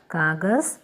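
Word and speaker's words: कागज़: കാഗസ്, ജയുടെ അടിയിൽ ഡോട്ട് വരുമ്പോൾ സ എന്ന ഉച്ചാരണം വരണം, ഇസഡിൻ്റെ ഉച്ചാരണമാണ് വരുന്നത്. കാഗസ് പേപ്പർ.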